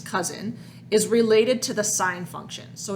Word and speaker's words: sine: right so like for sine we use the abbreviation s i n so sine of an angle might look like that it's not pronounced sin it's bounce sine cosine we use cosine